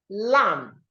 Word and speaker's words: lamb: So we have lamb, lamb, not lamb. The B is silent, so you go lamb.